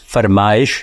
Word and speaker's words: فرمائش: اور دوسری بات یہ ہے کہ ان الفاظ میں حمزہ لکھنے سے ہی ان کا وہ تلفظ پیدا ہوتا ہے جو اردو میں رائج ہے. مثلا فرمائش کا صحیح تلفظ فرمائش ہے, وہ اس میں